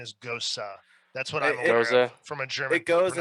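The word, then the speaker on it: Gose: and fancy you say goes a because america well because it rhymes with rose and people just don't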